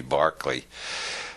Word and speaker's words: Berkeley: George Barkley after whom the city of Berkeley is named because Americans don't know how to pronounce it Irish names it should be Barkley uh Bishop Barkley proved